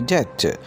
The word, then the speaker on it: debt: D-E-B-T, debt. This word is pronounced debt because the letter B is silent in this word.